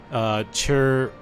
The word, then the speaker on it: chirurgeons: I just looked up how to pronounce this. Chirurgeons.